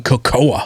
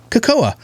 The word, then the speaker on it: cocoa: your wife for saying cocoa first of all like when you're editing now you're like babe what did you say here kokoa yeah that's not how you say it it's coco i don't get it